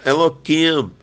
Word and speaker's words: Elohim: É um nome tão sagrado que o nosso povo chama Eloquim, para não pronunciar Elohim, tá?